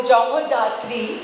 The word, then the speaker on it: Jagadhatri: Jagadhatri, Bengali में अगर बोलूँ जगधात्री, being a Bengali, I would want to pronounce it that way, is जैसे show का नाम भी है, माँ दुर्गा का ही एक रूप है.